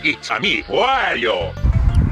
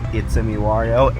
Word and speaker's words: ItsameWario: But yeah, so many people mispronounce my name as ItsameWario, even though the intro to my channel is ItsameWario. ItsameWario! I state ItsameWario, and that it should just be obvious that it's ItsameWario.